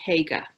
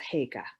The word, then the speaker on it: haiga: I'm going to say Haiga, H-A-I-G-A.